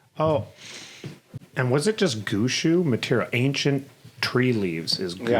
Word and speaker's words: gushu: I was talking to one of the farmers, and the gushu, for example, they say it like gushu. Oh, yeah. Like they say the sure, like Sure, yeah.